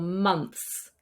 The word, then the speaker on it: months: So these are words like clothes or months, where we have a th sound with an s. This is very, very difficult for non-native English speakers to pronounce. And just so you know, there are some English accents which also don't pronounce the th sound, and it doesn't matter.